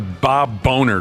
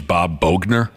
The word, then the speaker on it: Bogner: better not ever hire Bob boner to coach for their Club excuse me Bob boner Bob boner well okay I'm messing around I think his actual the pronunciation of his name is Bob Bogner uh I I remember